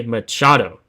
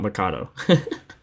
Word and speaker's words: Machado: Manny Machado. Machado, not Mikado. I keep saying it wrong, bro. It's so sad. It's so stupid. Because I feel like it should be Mikado, but it's Machado.